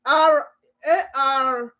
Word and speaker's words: Arafat: you watch it later, it's Arafat. You know my pronunciation? A as in apple, R as in rabbit, A as in apple, F as in Frank, A as in apple, T as in Tom.